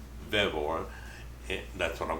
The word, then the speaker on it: Vevor: this to me and I don't know if they're called vivor or bevor I would think Vore but I made a note on my phone ask them the pronunciation so there's the spelling right there v v o r Vore and that's what call